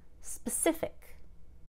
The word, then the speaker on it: specific: change it to pacific with an ic ending the pa just becomes almost nothing pacific specific if you made this a verb it would be specify and the s-p-e-c would be very clear with a short e space but here it's just sp spa specific comical notice that i